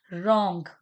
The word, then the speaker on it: wrong: Wrong. The word wrong. Here W is silent, right?